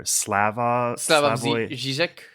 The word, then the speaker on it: Slavoj Žižek: I think he's Slovenian, and his name is, I'm taking a stab here, Slavoj Žižek.